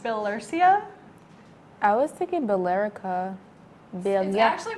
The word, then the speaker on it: Billerica: actual waiter pronounces filler sia i was taking billerica Billy actually pronounced billerica Oh bill yes I'm closing up oh stop